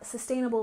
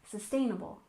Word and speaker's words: sustainable: stress of daily life and next we have sustainable living with a stress on the second syllable sustainable sustainable living has a stress on the first